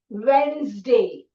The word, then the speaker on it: Wednesday: Now see note the dropped syllable. The whole syllable has been dropped. Ne. Okay. So we say Wednesday. It's like nobody says witness day. Nobody says Wednesday. It's Wednesday. Okay, this is the right pronunciation.